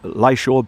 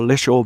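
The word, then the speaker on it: Lishaw: If you follow the road all the way around past um Lysore Burn or Leo Burn, whichever way you want to pronounce it, it's L I S H A W. Leo or Law.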